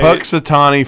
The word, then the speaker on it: Punxsutawney: Dave that's what funk I can't even say Punxsutawney Phil right is that how you say it